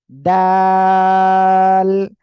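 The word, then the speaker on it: دال: দাঁতের সামনের উপরের দুই দাঁতের গোড়ার সঙ্গে লাগিয়ে উচ্চারণ হবে আর তিন আলিফ টেনে পড়বেন দাল সবাই এই অক্ষরটা একসাথে বলেন তো মাশাআল্লাহ মাশাআল্লাহ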